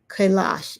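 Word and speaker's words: Kailash: Now we go to Asia, Mount Kalash in Tibet.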